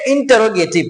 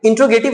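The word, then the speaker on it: interrogative: अब चलते हैं इंटेरोगेटिव में। इंटेरोगेटिव का मतलब क्या है, इंटेरोगेटिव, इंट्रोगेटिव नहीं बोलते हैं, इंटेरोगेटिव बोलते हैं।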